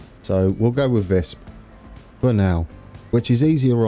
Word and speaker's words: Visp: Obviously, we're going to finish off the bridge work at Visp, I've been informed, is how you pronounce it, and I've been calling it Wisp. So we'll go with Visp for now, which is easier on me because